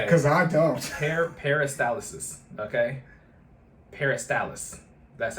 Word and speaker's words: peristalsis: Peristalsis.